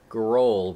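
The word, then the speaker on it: Grohl: pronounce the last name it's GRL it's it's not GRL Groll with an o i pronounced get it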